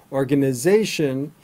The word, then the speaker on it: organization: Information, vacation, organization, invitation. The standard American accent for pronouncing the ending is shin, not shun. So you can try to spell it the way we actually pronounce it. So information, organization, invitation.